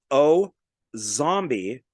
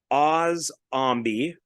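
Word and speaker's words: Osombie: And so I've seen this pronounced a couple different ways, as O zombie or Oz zombie. And I've also seen the Z as an S. So however you want to say it.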